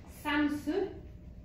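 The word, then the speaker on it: Samsøe: C'est un pantalon de d'une marque qu'il faut prononcer Samsu.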